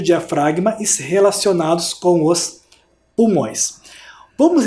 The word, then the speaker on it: diafragma: Aquela seta de baixo é o músculo, eu já falei na aula, é o músculo diafragma. Olha como se escreve diafragma. Diafragma, com o G mudo.